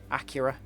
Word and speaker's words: Acura: Oh yeah, technically this is an American car because it's an Acura rather than a Acura. Is that how Americans pronounce it? Acura. I guess it makes sense if it's a play on the word accurate.